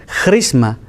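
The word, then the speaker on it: χρῖσμα: la voy a decir como se dice en griego misma misma les suena algo que conocemos suena a carisma suena a christmas suena a crist suena a cristo suena a cristianos crisma es la pronunciación en griego quiere decir ungido unción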